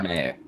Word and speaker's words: Meyer: Started Richard C. Meyer. Meyer.